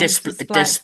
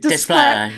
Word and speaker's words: Desplat: Oh, I always say his name wrong. Desplat. Desplat, yeah.